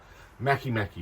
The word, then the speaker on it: Make: I'm recording this on Monday, and they were pipped at the post by Make as it's spelled, Mackie Brewery in Portsmouth.